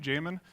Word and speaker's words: Jamon: That is how you pronounce my name, Jamon. If you're from Spain, you can say Jamon. Otherwise say Jamon.